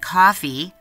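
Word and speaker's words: Ko-fi: us some love at coffee that's spelled KO - fi com where you can buy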